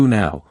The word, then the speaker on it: know: Even though it begins with the letter K, we don't pronounce the K at all. It's completely silent. So instead of saying K now, we just say no as in I know the answer.